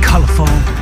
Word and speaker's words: colorful: 근데 발음 자체가 colorful, F-U-L-풀이 아니라 full 이런 느낌으로써 기억하시고요.